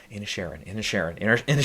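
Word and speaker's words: Inisherin: could get in is banshees uh banshees of in a Sharon I can pronounce it now there you go any Sharon yeah that's that's that they say it like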